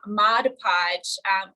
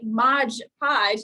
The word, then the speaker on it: Mod Podge: So that's where the name Mod Podge comes from. So if you say Mod Podge, you're actually saying it wrong. It's Mod Podge, not the G at the end of mod.